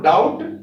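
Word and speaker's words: doubt: तो जैसे date, date है तो ये बी साइलेंट रहेगा, डेट बोलेंगे। और डाउट, जैसे यहां भी बताया था, तो डाउट में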